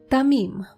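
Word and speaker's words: תמים: One more adjective that is tamim.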